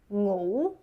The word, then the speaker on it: ngủ: Sing, u, sing, u, sing u, sing u, sing u, ngu, ngu, ngủ, ngủ, ngủ.